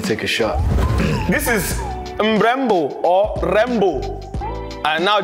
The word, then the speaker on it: Mrembo: So it's M-R-E-M-B-O. Some languages say Rembo or Mrembo or Membo. Because I don't know the language, but the way they used to pronounce it used to change.